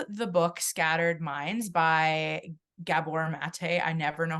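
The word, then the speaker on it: Gabor Maté: And I love the book Scattered Minds by Gabor Mate.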